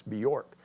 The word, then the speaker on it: Bjork: That's how it's hard to pronounce that guy's name. It's Bjork.